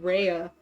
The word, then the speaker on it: Rhea: name, but I used to read it as Ree. I figure you're a great... And I now have to like overcompensate in my brain when I say the name, like, oh yeah, Rhea. That's how it's said.